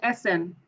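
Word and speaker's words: Esen: Yes, it's Essen.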